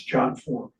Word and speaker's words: JotForm: what's jot form? Is that how you pronounce that?